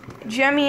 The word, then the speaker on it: Gemmy: made by jimmy obviously gemmy industries that's not how you say it jimmy industries nice butt so he's